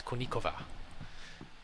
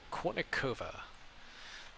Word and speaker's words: Kournikova: drives me insane is anna konecova it's konnicova i don't know why people say kournikova yes or anybody who